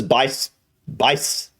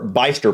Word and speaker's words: Bicester: I would pronounce this Bicester, or Bicester probably. But I bet it's Bicester. I bet there's, I don't know. I have a feeling it's Bicester and there's actually no H there, but I